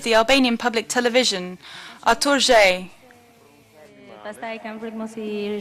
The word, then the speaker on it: Zhej: Io spero di pronunciarlo bene, Zhej. Zhej, bravo.